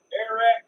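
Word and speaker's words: Arat: Air-rat cases. Spell that for me. Spelled like A-rat. A-rat. A-R-A-T. A-R-A-T. Cases.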